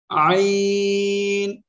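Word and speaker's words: عين: আইন, খেয়াল করেন এইরকম হালকা বাক হবে আইন। এই অক্ষরে চার আলিপ টেনে পড়তে হবে। তাহলে আমরা কি বলতেছি, কি শিখলাম, সেটা হলো এই অক্ষরটা উচ্চারণ করব কি, গলাটা হালকা চেপে আইন।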